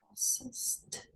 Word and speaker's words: processed: Sounds like a T as in Tom.